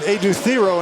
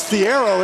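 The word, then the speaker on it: Adou Thiero: himself and he said his name, "Hi, I'm Ad Theo." And he said, "What?" And he pronounced it was Theiero at Kentucky.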